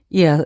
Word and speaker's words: Ea: Ia is spelled EA and then with the help of